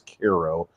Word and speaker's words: Cairo: piece on Koo Illinois it's spelled like Cairo but everybody says Koo and that's I think